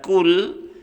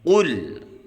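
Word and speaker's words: قل: Tapi kalau kita baca kul itu artinya makanlah ya. Jadi harus kita ucapkan dengan kuat ya. Qul. Ya, ini salah satu huruf isti'la ya, yang harus diucapkan dengan mengangkat pangkal lidah.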